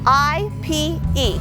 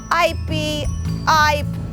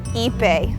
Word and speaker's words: ipe: talk about a brazilian hardwood called ipe ipe is spelled i p e and a lot of people have problems pronouncing it i've heard it's called ip i the way you pronounce it is ipe ipe its scientific name is hand this although